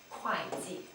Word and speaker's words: 会计: But when used as a noun to say accountant, 会 is pronounced as 快快, same pronunciation as 快 fast.